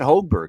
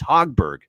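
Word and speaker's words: Högberg: But and by the way, apparently he wants it pronounced that way. Even he's Swedish. You would not think he'd want it pronounced that way, but apparently it's Marcus. It's not Hogberg. Apparently it's Hogberg. So like the hog, pig suey, that kind of hog.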